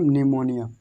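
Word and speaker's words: pneumonia: इसलिए हम यहाँ पर पी से स्टार्ट नहीं करेंगे, इसको क्या पढ़ेंगे, सिर्फ पढ़ेंगे निमोनिया, एन से निमोनिया।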